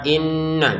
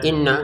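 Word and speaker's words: إنَّ: Untuk kata inna jangan lupa dengungannya dua harakat inna. Jangan sekedar inna gitu ya.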